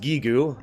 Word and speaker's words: Gygus: It's supposed to be pronounced Gigu, and I know that, and I don't care.